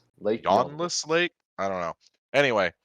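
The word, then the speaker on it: Ywnnlas: and W's and ends there's only one vowel in this entire word yawnless Lake I don't know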